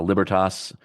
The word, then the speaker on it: Libertas: firm's website so uh libertas sounds exactly like it's spelled l i b ER t s like Liberty but it's Latin stands for